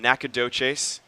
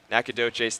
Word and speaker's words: Nacogdoches: Ellis, a rising senior from Nacogdoches. Did you know how to pronounce that? I did not. That's where Stephen F. Austin is Okay. located. That's where that school is. Nacogdoches, Texas, stands at 6'2", 175, and he will